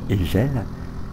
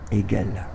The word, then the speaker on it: Hegel: Dans cette rue Hegel, que tout le quartier prononçait rue Hegel, il m'a fallu attendre la première au lycée Saint-Paul pour apprendre à prononcer Hegel.